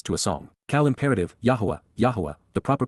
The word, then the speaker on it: Yahweh: Yahweh. Yahweh. The proper pronunciation of the name of Eloha God as directed in his Torah.